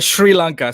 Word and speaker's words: Sri Lanka: do you pronounce that it's a sri lanka so it's like an sh uh sound so and then your